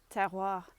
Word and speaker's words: terroir: So if you think about tearing paper, okay, so you say tear, can hear you, it's great, can hear you going tear, and then you just go wah, okay, you're doing the